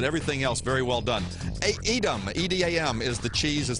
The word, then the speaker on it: Edam: Taylor, you knew what you were talking about, but you said it wrong. You said 10.